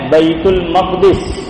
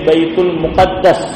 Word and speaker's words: بیت المقدس: بعد کی جو 2 مساجد ہیں وہ ہے بیت المقدس، یا آپ کہہ لیجئے بیت المقدس، دونوں طرح تلفظ صحیح ہے، چاہے آپ بیت المقدس کہے